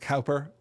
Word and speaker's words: Cowper: Cooper," which suggests that Brunstrom probably thinks that it's pronounced Cowper as well because of the herd pun.